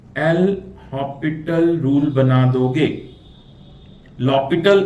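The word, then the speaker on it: L'Hôpital: लॉपिटल इसको pronounce करते हैं, एल हॉपिटल भी बोल सकते हैं।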